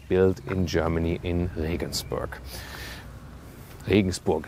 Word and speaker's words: Regensburg: Regensburg is the German pronunciation. Listen and repeat, Regensburg.